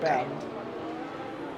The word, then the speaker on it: Bernd: No, he's Bernd. Bernd Mylander. So okay. Bernd. Okay. Is the German way to pronounce it.